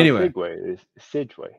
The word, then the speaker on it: segue: was in Dead Rising is that how you pronounce segue sway it's meant to be sway I also called it segue and then somebody corrected me and I was just like well fine I'll be corrected then whatever is uh